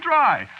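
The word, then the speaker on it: Drei: Yeah, but of course that ain't the way you spell it. See what? No, you see it's a German name. Is it? Yeah, sure. Spelled D R E I. It means three, you know.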